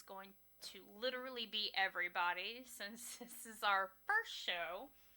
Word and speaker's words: Samhain: who don't know and it is spelled funky and pronounced completely not the way it looks it is s a m h a i n but it is pronounced sin it is gelic and